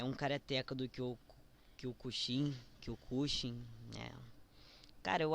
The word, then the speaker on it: Kyokushin: É um karateca do Kyokushin, Kyokushin, né? Cara, eu acho que a pronúncia normal é Kyokushin, mas eu tinha um conhecido num grupo que, benza a Deus eu saí, o cara falava Kyokushin.